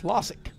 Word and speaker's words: Lasic: and 67 is Brady Lasic. That is Loic, by the way. That's how he pronounces that I practiced and messed it up.